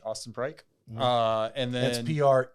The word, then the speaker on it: Preik: And then that's Preik. Eik, like the song. Okay. Old McDonald, E-I-E-I-O. E-I-O. There's no O though. And there's only one E-I. But it rhymes with bike.